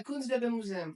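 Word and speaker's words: Kunstgewerbemuseum: Is this how you pronounce it? Kunstwerbe Kunstwerbe Museum? Is that correct? Yeah, Kunstwerbe Museum.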